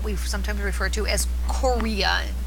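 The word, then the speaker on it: chorea: sometimes refer to as Korea Korea is spelled CH 0 re a Korea which is really random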